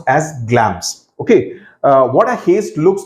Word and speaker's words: Glamis: It's pronounced as Glamis.